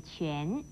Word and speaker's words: 卷: 卷又念全，国语注音是七元全二声全，全是弯